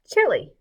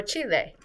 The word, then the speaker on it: Chile: is going to be chili or chile depending on how you say it so here it is